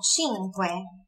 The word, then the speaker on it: cinque: Ó, e con cinque. Olha a pronúncia do C aqui.